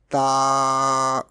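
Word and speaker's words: ت: Next letter is ta. Remember one thing make clear difference between ta and to. Okay. Ta is pronounced in a thin tone and to is pronounced in a thick tone.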